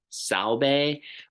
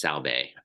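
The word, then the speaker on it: Sahlberg: lessons, and I always his name, the way it looks and how it's said, are two different things. I believe it has Swedish roots. I believe it's Pasi Salbe. It looks like Berg to me, but I believe it's Salbe.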